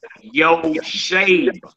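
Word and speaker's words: יושב: You pronounce that yo shave y because remember the two dots is underneath the shin which make a a sound.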